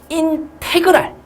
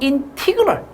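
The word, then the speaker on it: integral: 뭐라고 읽어주냐면은 인테그랄 이라고 읽어도 되고요. 인티그럴 이라고 읽어도 되고요. 뭐 아무튼 뭐 그렇습니다. 어차피 영어니까 이렇게 읽으시든 저렇게 읽으시든 상관없잖아요. 그쵸? 나는 인테그랄 뭐 이렇게 읽어요. 인테그랄 2x 플러스 3dx 이렇게 써주고요.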